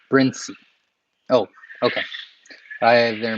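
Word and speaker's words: Brinsea: Looks like people in Bern pronounce it Brincy.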